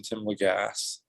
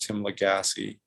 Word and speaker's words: Lagasse: and you didn't so uh everyone calls him tim legass but apparently his name is actually pronounced tim legassi yeah i i re i read it that